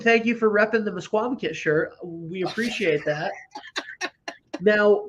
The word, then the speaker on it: Misquamicut: yeah, so we're so happy you're coming to Mesquamaket, just to maybe get that. So can you pronounce the name of our town?